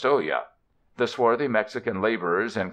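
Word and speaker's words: olla: swings from a beam is and oh yeah pronounced olya the swarthy Mexican laborers and conical straw hats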